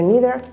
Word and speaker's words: neither: Both pronunciations are perfectly correct. Either, neither, either, neither. Okay?